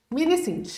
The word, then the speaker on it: MiniSint: Como é que pronuncia? Sint. MiniSint.